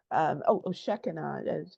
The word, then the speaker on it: Shekinah: of definitely energy and stuff I've learned from Shekinah, Shekinah, Shekinah. Sheki. That's it. Shekinah. Yeah, Yeah. I said, yeah, you said it better. So I've heard it pronounced different ways.